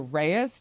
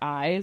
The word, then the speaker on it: Reyes: know who I am I am Reyes not eyes although that is how you spell it because my last name